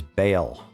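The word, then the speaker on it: Baal: Lorewise, this dark wanderer is Bale and uh that is how it is pronounced in the Diablo universe.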